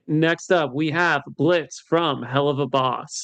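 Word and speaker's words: Blitzø: The O is silent.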